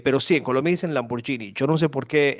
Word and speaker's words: Lamborghini: escucho un colombiano decir Lamborghini. Lamborghini es italiano y la G y la H es Gui, eso es Lamborghini.